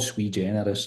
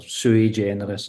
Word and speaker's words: sui generis: And now that you can start to understand what you can do with them, but it's called sui generis or sui generis. There's a few different pronunciations of it, but if you can